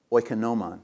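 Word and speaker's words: οἰκονόμον: The second word is the word manager, which is pronounced oikonomon or oikonomon, okay? So you can kind of, if you know Greek, you can kind of sound that out, oikonomon, right?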